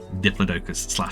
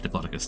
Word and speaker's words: Diplodocus: Let's get ourselves a coastal Diplodocus / Diplodocus, depending on how you say it.